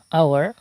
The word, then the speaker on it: hour: Here, the word hour, HOUR, the first letter of the word is H and it remains silent.